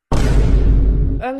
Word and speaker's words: homme: Homme, ça s'écrit avec un H mais qui ne se prononce même pas.